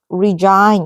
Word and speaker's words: resign: resign 리로 발음은 resign 이렇게 발음해야 되고 resign 근데 요거의 명사형은 resignation 아니다.